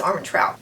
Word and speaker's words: Armentrout: you say harmon towel i think it's arm and trout i have read all